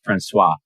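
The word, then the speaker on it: François: France Wallace and Coro it's pronounced franois but what some of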